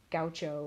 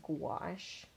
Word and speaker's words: gouache: It's spelled gouache, so I think some people will mispronounce it as gaucho or something, but it's gouache.